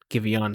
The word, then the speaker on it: Giveon: It looks like it's Giveon. Giveon, sorry. Like he's an Eevee evolution.